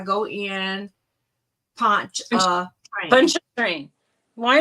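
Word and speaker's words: Pontchartrain: why not I told I said think of punch and train but P it's p o n t c h a t r a i n punch ponter train well I mean you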